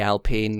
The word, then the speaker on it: Alpine: It would be Alpine because French, but yes, that just doesn't.